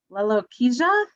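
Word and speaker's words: lalochezia: i don't think i can say it properly lalo kiza l-a-l-o-c-h-e-z-i-a and i looked it up and it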